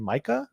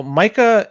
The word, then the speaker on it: MiCA: due to the markets in crypto assets regulation Micah I think is yeah we talked about M before on the show yeah and it's pronounced Micah right yeah y so these rules come into